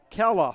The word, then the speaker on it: Kayla: Emails in and said, FYI, Alex Kayla is pronounced Kella, like Bella.